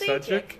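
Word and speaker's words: Šejić: I don't know how to pronounce his name. Oh, it's Sajic.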